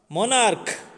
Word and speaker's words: monarch: Monarch, k, monarch. Here also the letters are ending in CH, but the pronunciation is k sound.